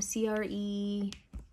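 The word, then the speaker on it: crème: can you see um c-r-e-m-e kind of like not cream like creme um if that oil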